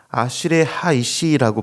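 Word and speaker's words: אַשְׁרֵי הָאִישׁ: 히브리어 원문에서 아시레 하이시라고 발음하고 있는데요.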